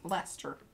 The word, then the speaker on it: Leicester: Pronounced Lester. Okay. Lester. Lester, like Fester.